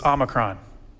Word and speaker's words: omicron: Our first, the O that's used in Logos is Omicron. Omicron, little O, short O. So if you're a reading teacher, something like that, short O sounds. We all know them, hop, stop, mop, short O.